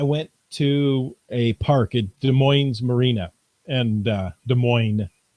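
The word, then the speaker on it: Des Moines: to a park at De Moes Marina and uh de MO is how it should be pronounced people here tend to put the S on it and I don't like that uh and there had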